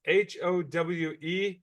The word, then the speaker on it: Howe: It's Howe. Nobody in Texas knows how to spell it except the locals.